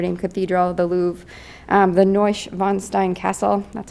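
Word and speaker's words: Neuschwanstein: see the Notre Dame Cathedral the Louvre the neusch von Stein castle that's how you pronounce it I looked it up um dacao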